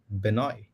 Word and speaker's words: Benoit: Benoit. The T is silent.